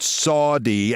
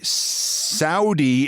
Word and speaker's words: Saudi: Yesterday he told the US Saudi investment summit and he pronounced it Saudi as in bone saw that the Saudi's trillion dollar lol investment, their entire economy is a trillion point one.